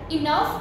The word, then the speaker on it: enough: In some words, GH is pronounced as F.